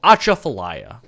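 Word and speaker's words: Atchafalaya: intro song we have right now is called acha falaya bless you thank you it's spelled a t c h a f a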